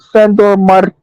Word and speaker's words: Sandor Martin: Sandor Martin. You gotta say that. You gotta roll your R's. Roll your R's real quick.